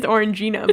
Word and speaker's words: Orangina: That's not how you pronounce that drink, right? It is Orangina, but...